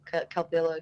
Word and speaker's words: Calvillo: before they think that it's like Italian Calvillo just so it sounds but uh no I think it's Spanish yeah it might be the V that's in there oh yeah the villa look I pronounced above Calvillo is a Double L I know that's why